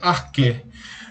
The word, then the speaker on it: arché: Está escrito arché, pronuncia arqué.